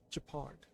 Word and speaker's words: Gepard: well done Jacquard Japan so that's to pronounce his name japard welcome visitors from Beyond